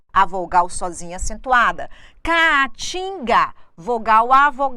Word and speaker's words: Caatinga: Caatinga, vogal A, não podem ficar juntas na mesma sílaba, elas se separam. Caatinga, o que eu tenho aqui? A tonicidade está em tim.